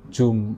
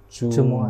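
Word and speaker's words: الجمعة: surah aljumuah saya ingatkan yang benar ini bacanya bukan jumah Jumah tapi Jumuah Jah Jumuah Iya karena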